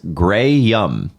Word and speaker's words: Graham: And lo and behold, on May 6th, 2013, he confirmed on Twitter that is pronounced Grey Yum.